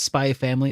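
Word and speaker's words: SPY×FAMILY: Do you pronounce the X when you say that? No, it's just Spy Family. It's just Spy Family?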